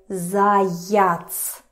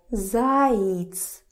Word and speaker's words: заяц: You don't say it as zayats. Zayats. No. It's not stressed, so you pronounce it as zayits.